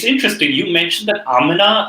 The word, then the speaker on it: Amina: or amina how do you say it amina amina yes i thought it was amina for somebody